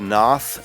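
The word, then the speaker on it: Pnath: death metal band called veil of noth and that's with a silent p p n a which is a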